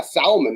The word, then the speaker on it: salmon: Yeah, salmon. That's how anybody would say it if you spell it out like that. But it's salmon. That's how it's said. That's how. Yeah, salmon. Yeah, L salmon. silent.